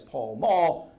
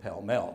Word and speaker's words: Pall Mall: whole street now well we would pronounce it in North America as pall mall they called it Pell mell don't the bridge have